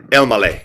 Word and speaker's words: Elmaleh: Elmaleh.